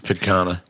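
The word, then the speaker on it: picanha: spelled pic I mean it's from Brazil so however the Brazilians would pronounce it that makes sense you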